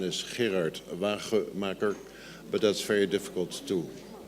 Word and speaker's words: Wagemaker: the spelling of my name and the correct pronunciation is here at about four Macker but that's very difficult to that's very difficult